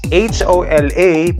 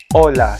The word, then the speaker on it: hola: no in spanish okay we don't pronounce the letter h so we say hola